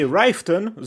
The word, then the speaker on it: Riften: By the way, Ryften, that's how you pronounce it, will make it possible for you to see the outside of the city very clearly.